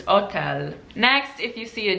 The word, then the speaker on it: hotel: Okay, the next thing is, if you ever see an H in Italian, it's silent. For example, the word hotel is also used in Italy, but they say hotel, so the H is silent. They still write the H, but it's silent. So they just pronounce every other letter in the word except for the H, so it's just hotel.